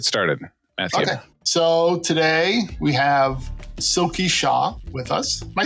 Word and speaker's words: Silky Shah: anyways let's get started so today we have silky shaw with us am i saying it right yes